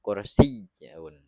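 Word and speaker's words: كرسيّ: Nah, dalam kursiyun ini ada tasydidnya. Jadi dibacanya masuk kursiyun. Kursiyun.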